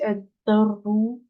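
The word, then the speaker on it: الدر: Pareil, ici, il y a une shadda, donc je prononce pas le lem. Donc, c'est ad-darru.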